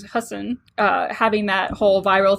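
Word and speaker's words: Hasan: it right because I I've been saying it Hassan for so long but then he corrected he corrected Ellen so it was husen uh having that whole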